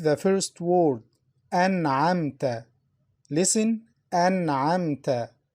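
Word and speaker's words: أنعمت: Listen, An'amta. Listen to the Noon, An'amta. Noon is pronounced clearly. Why? Because it's followed by Ayn, one of the throat letters.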